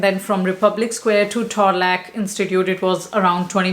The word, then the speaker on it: Torlak: do not go to Thorlak, I think it's called Thorlak. You know what? Let me check. How do we pronounce Thorlak? Torlak. So, Torlak.